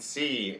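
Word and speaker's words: quidnunc: It's like guide nunk, but without an E. It's a word? Guidnunc, and it is a word.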